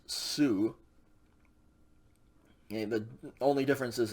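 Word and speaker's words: σου: exact same way okay sigma omicron upsilon is also pronounced sue okay the only difference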